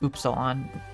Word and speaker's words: Upsilon: Actually, it's pronounced Upsilon.